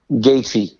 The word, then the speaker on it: Gaethje: It was weird because I don't know how do you pronounce Gaethje? Is it Gaethje? Gaethje, Gaethje.